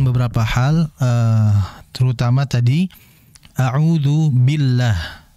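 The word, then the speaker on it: بالله: Namun harus diperhatikan beberapa hal, terutama tadi a'udzu billah. Billah ketika masuk huruf lam, ingat huruf lam itu ujung tepi lidah billah, billah. Bisa juga di gigi seri atas ya.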